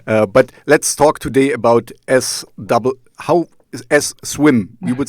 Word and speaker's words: SWMM: So, but let's talk today about swim. You would say swim or swim? Yeah, swim.